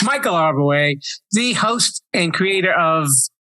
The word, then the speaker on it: Arbouet: It's Michael Arbouet, the host and creator of The Quidditas Factor.